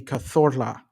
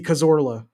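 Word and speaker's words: Cazorla: I was corrected by my Spanish uh housemate back in the day when I lived in Barcelona on how to pronounce it. I'm sure he was probably embarrassed for me when I pronounced it so wrong. Santi Kazora, right?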